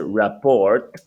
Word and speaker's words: rapport: So you pronounce it rapport, but it's not the pronunciation rapport.